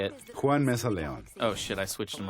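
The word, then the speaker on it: Juan Meza-León: panties on, ladies, the soothing dulcet tones of Juan Lihan Mesa. Did I say it right? Nope, you got to No, switch. you did not. No. All right, you say it. Juan Mesa Leon.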